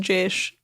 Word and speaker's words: Jaysh: It's annoying because in English it's spelled Jayish, but it's just Jaysh.